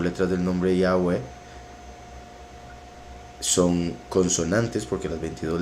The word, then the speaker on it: Yahweh: Entonces Yahweh, Yahweh, como 4 vocales.